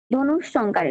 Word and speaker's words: ধনুষ্টঙ্কার: এরপর আসি ধনুষ্টঙ্কার। ধনুষ্টঙ্কার দ দন্ত নরসুকার মূর্ধন্য শয় ট অনুস্বার ক আকার বসুন্ধর। ধনুষ্টঙ্কারের উচ্চারণ বাংলাতে কি বলা ধনুষ্টঙ্কার।